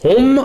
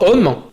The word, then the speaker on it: homme: Homme, qu'on prononce homme à cette époque, et non pas homme, c'est nasalisé.